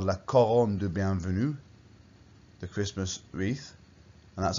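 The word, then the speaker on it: la couronne de bienvenue: looks a bit like that perhaps it's called la coron du bienvenue the christmas wreath and that's how you pronounce it in french like okay the whole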